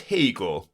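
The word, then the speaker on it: Haigha: His name is Hagar." He pronounced it to rhyme with mayor.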